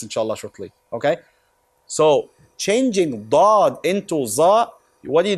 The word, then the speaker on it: ض: The most common mistake is changing Dad into Za. First of all, there is no such letter in Arabic as Za. There is no Za in Arabic.